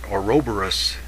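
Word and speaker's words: ouroboros: be something missing sort of like a an oroborus that's how you say it the the cosmic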